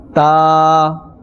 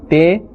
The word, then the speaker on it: ت: Ta. Here as well, do not say te. Rather, the correct pronunciation is ta.